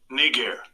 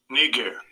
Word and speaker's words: Niger: Okay, pronunciation. Strong's G 3526. Niger. Niger.